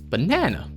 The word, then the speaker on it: banana: In America, the second of the three A's is pronounced with an upwards inflection and a heightened sound almost like an E, banana.